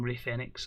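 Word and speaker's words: Rey Fénix: I blame Dasha for that pronunciation, but I'm now going Rey Fenix on that, even though here it be Phoenix.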